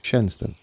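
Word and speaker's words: Shenstone: I have been informed of the correct pronunciation of Shenston. There we go. Shenston.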